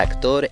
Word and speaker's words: actor: Esta palabra en inglés se escribe con 5 letras y también se pronuncia con 5 sonidos. El primer sonido equivale a una A, que es una A larga y grande, para la cual debes sonreír al pronunciarla y tirar los labios hacia atrás, hacia las orejas, y abrir la boca y decir A.